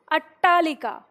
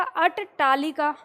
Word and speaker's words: अट्टालिका: और ये है अट्टालिका अब अगर हम इस ट का पूरा उच्चारण करेंगे तो क्या हो जाएगा अट तालिका ठीक है तो ये अट तालिका नहीं है ये अट्टालिका है जैसे हम खट्टा बोलते हैं ना डबल ट आता है तो ऐसे ही अट्टालिका है ठीक है इसका उच्चारण